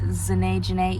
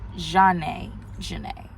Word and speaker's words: Zhanae Janae: about just pronunciation because a lot of people say Zanae Janae even in old videos I've said Sinai Janae but I really want to put emphasis on the fact that I want my noun uh I want my name to be pronounced as Jeanette Janae Jean a Janae right um but basically